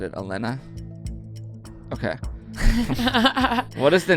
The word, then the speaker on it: Elena: Shout out Elena, because I guess I was pronouncing her name wrong. She told me. There you go. Elena. Elena.